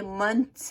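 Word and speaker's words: months: जैसे मंथ्स है, महीने, साल के महीने, मंथ्स, तो उसको बोलते हैं मंथ्स, मंथ्स, ठीक है।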